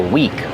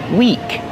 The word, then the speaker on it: weak: I feel weak. Weak is the opposite of strong. Weak like this week and next week. It has the same pronunciation as this week and next week.